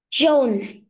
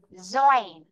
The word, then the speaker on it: join: John. Join. Ói này. Join. Join. Có âm nơ cuối nhá.